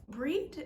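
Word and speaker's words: Brigid: the way it is it doesn't sound the way it's spelled so it's spelled b-r-i-g-i-d or sometimes b-r-i-g-i-g-h-i-d so it looks like brigade so breed eventually um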